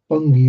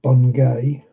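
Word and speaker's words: Bungay: Bungy always gets butchered. People always pronounce that bungeay. No, it's bungy.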